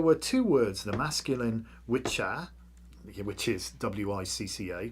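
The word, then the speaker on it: wicce: two words, the masculine witcha, which is W-I-C-C-A, pronounced witcher, and the feminine W-I-C-C-E, pronounced witch, so witcher and witch.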